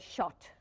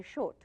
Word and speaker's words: shot: Well, like see, for instance, like the word shot, take S-H-O-T. The Gujarati will say short.